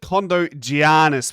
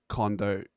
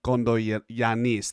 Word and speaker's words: Kondogiannis: Now, Max, I said Kondogiannis, but I was taking the piss.